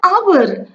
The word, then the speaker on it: hour: An hour, a. H is silent here.